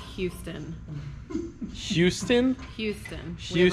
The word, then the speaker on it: Houston: It's Houston. Houston? Houston. We have a Houston. problem. They didn't say Houston. I say it like I say huge.